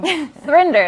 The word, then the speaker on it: Thrinder: Thrinder, it's called. So it rhymes with Tinder.